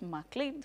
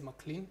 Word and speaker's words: M'Clean: to help me discuss this is of course mle Financial Consultant hi sir hi you look